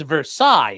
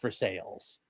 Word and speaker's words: Versailles: a place called um it's pronounced Versailles if you're in France. In in Ohio, it's pronounced for sales.